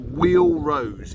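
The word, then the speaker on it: Wheal Rose: So it's at Wheel Rose in Cornwall, which is spelled W-H-E-A-L.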